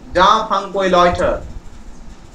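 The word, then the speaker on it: Jean-François Lyotard: যা ফ্রাঙ্কোই লয়টার, এল ওয়াই ও টি এ আর ডি.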